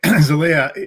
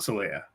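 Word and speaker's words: Xelaya: The home planet, Zalea, is actually pronounced just like the name of the place where Spock undergoes Fort Faltorpan, the refusion at the end of Star Trek 3.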